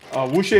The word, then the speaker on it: wuxia: I'm gonna try my best to pronounce this. Wuxia?